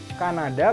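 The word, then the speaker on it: Canada: hurufnya juga dari penggalannya Kenapa ini dibacanya Kanada karena memenggal nya bukan kan ada bukan kan ada tapi dipenggal qqnada menjadi tiga bagian begitu juga mohon aku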